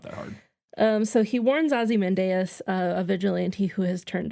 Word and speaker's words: Ozymandias: I still feel like we never landed on a way to pronounce Ozymandias. In the movie, at least once, they say Ozymandias. Like one of the first times he's introduced. But I feel like other times I remember Ozymandias.